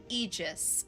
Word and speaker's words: Aegis: Eegis is pronounced Eegis. Okay, now I know. Now I know. Long E sound.